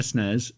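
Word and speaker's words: SNES: Super Nintendo entertainment system which is the only way to pronounce those names when I was a kid I had a Nez and a snares and I'd genuinely never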